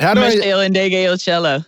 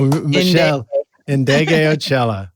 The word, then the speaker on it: Meshell Ndegeocello: Oh, you don't even know if I can pronounce her name right. Meshell Ndegeocello. There you go, Meshell Ndegeocello.